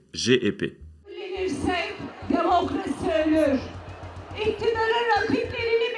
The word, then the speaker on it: CHP: İmamoğlu et son parti, le CHP, mais qu'il faut prononcer GEP.